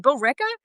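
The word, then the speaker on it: Billerica: yeah, we'd have to drive through somewhere called Lyrica. I was like, Lyrica? What is that? It sounds like a depression medication they would. I was going to say, what are the side effects? Yeah. So then he's showing me and I go, oh, you mean Bill Ricca? He was like, there's no way it's said like that.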